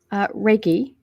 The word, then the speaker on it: Reiki: My wife is a Reiki master, and she gets mad at me because I mispronounced the word. But it's okay. It's all good. Reiki.